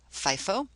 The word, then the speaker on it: FIFO: specific identification the other methods are first-in first-out pronounced FIFO lastin first-out LIFO and average cost specific identification